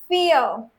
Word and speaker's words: vier: But, vier, sieben. Here you can see that IE are written together, right? So over here, pronunciation of E, the English E, because in German, E